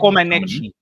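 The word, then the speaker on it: Comăneci: Comaneci.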